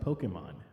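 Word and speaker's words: Pokémon: Actually, originally it's pronounced Pokemon. Well, I'm mispronouncing it, but in America, in the English translations, they added to make it sound like Pokey, but it's actually like Pokemon, like pocket monsters, because that's how you technically pronounce it.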